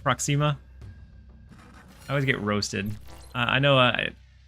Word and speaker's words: Proxima: going to hold off do I like like Proxima I always get roasted I know now I